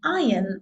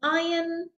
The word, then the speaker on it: iron: Okay, be careful with that word, iron, not iron. I hear that very often with my students, iron, and it's not, it's iron. Iron. Okay, so the R is a little bit more silent.